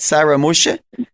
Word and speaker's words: Sarah Mushi: And I want to say goodbye to you, and Shona, I think I say Sarah Mushi. Is that how I say it? Sarah Mushi? Yes, that's how you say it.